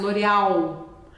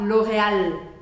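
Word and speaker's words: L'Oréal: que marcar beme L do o l português a gente costuma engolir então a gente faz Loreal em francês você vai falar Loreal Loreal deixando esse L bem marcadinho aí a gente tem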